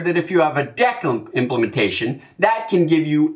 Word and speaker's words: deque: Finally, we have a double-ended queue, or deque. Some have also used a longer abbreviation, but because that's spelled like the operation for deleting from a queue, let's go with the shorter name.